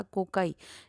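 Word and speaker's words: cocci: है सबसे पहला वाला कोकाई। इसमें कोकाई जो होती है, कोकी भी बोलते हैं, कोकाई भी बोलते हैं, अब कोकी अपना अपना प्रोनाउंसिएशन है।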